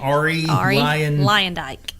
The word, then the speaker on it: Arie Luyendyk: Okay, and that is how you say his name, Arie Luyendyk.